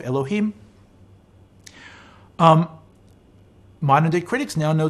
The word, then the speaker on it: Elohim: to the almighty as elokim or with a hay instead of a kuf elohim modern day critics now